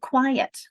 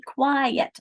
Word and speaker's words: quiet: it in words like quiet. Okay, everyone, be quiet. I have an I and an et. So you have to divide between the two in order to pronounce it correctly.